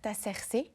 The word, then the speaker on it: Artaserse: Vous êtes le fondateur d'un ensemble de musique bar qui s'appelle Cerc. Je sais pas si je prononce bien.